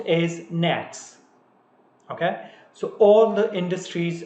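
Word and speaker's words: NAICS: are following North American industry classification system it's pronounced as nets okay so all the industries are actually they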